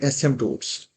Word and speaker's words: asymptotes: Sketching के लिए number one सबसे पहले आपने फाइंड करने हैं एसमटोट्स। Find एसमटोट ए एस वाई एम पी टी ओ टी ई S find एसमटोट्स ये पी साइलेंट होता है इसके अंदर फाइंड एसमटोट्स एसमटोट्स